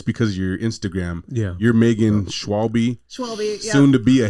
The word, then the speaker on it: Schwalbe: I think it's because you're Instagram you're Megan Schwab schw soon to be a haym maker soon